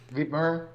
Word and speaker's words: Wibmer: Wibmer.